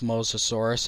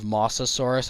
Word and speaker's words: Mosasaurus: C Rex there's also the classic pronunciation eror of mosasaurus instead of Mosasaurus it's not Moss lizard it's MOS lizard in reference to the mous river where the original fossils were found fossil evidence suggests that